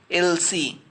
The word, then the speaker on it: Elsie: How you pronounce that? Elsie. L.C, Elsie, and Elsie, both are pronounced in the same way.